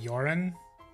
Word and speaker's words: Joran: a long time myself joran is pronounced with the Y sound I see yuran to find my way